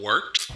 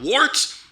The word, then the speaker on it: Wort: It is the Wort, not warts, not forts, not short, the Wort.